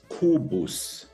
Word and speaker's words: Kobus: In German, it's Kobus.